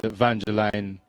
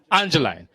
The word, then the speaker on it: Angeline: I have to give Eugene Silcott and Vangeline Camacho a lot of credit. Angeline. I keep getting his name wrong. Yeah, he's going to have my head for that, for real. I didn't christen him, so leave me alone. But Angeline Camacho is his name, and he's the